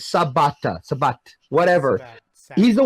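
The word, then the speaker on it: Sabat: oh I forgot Christopher Shabbat I think I said his name wrong is Sebata so but whatever he's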